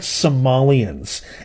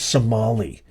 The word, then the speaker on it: Somali: and say it's actually we're not Somalians it's pronounced Somali if you're going to